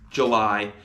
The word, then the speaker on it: July: And the sounds of July are I, July. And you might notice that July is spelt with a capital letter, and the letter U makes an oo sound in that word.